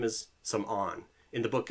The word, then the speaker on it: Samoeun: His name is Samoeun. In the book, it's Samorn, so like Samoeun, but it's actually pronounced in Khmer Samoeun.